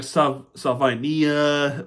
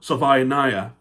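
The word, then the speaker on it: Savaiinaea: So I looked it up, and they had some different pronunciations, like Salvinia or Salvinaya.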